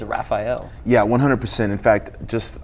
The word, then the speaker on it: Rafael: listen guys I mean I know that there's that culture in MMA or in jiu-jitsu to pronounce it like that but it really very much is Raphael yeah 100% in fact